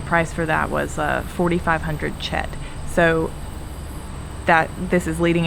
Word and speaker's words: kyat: So you would think like Kyat or Kiat. And so, but the reason that it's pronounced Chet is because in Burmese, the KY makes a ch noise, like the CH does in English.